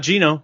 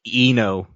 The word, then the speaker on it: Eno: X-Men that's right there yep says it says Eno not Gino just saying the g is silent it's not even it's pronounced Eno hoo yeah yeah it's Kino from now on